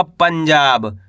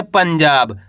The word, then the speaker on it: पंजाब: तो मिलके बन जाएगा पंजाब। क्या पढ़ेंगे? पंजाब आ रहा है समझ में? प ऊपर किसकी मात्रा है? अनुस्वार की मात्रा। यानी कि आधा न का उच्चारण तेजी के साथ करेंगे।